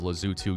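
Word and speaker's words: Lesotho: Now we have our final country of Africa which is Lazutu. Yes, it is pronounced that way.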